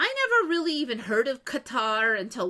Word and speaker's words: Qatar: is just not does not sound right because then it sounds like c o t t e r, which is not Qatar. But I think we have trouble not having an emphasis on a syllable and having them all clipped and even.